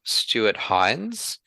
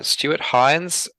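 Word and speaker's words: Stuart Hinds: really recommend that you do is look up Stuart Hines. Um sorry Stuart, I mispronounced your name in a previous episode. Uh Stuart Hines, H I N Ds.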